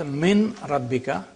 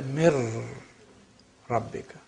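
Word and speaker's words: من ربك: So you don't pronounce min rabbika, you say mir rabbika.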